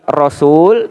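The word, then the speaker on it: رسول: dalam Al-Quran itu kalimat rasul dan kalimat rusul. Cara bacanya beda. Kalau ro-nya fathah, rasul panjang bacanya. Tapi kalau ro-nya dhammah itu pendek, rusul.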